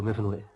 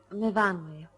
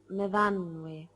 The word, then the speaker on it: Myfanwy: What do you do, Myfanwy? No, Myfanwy. We pronounce it Myfanwy.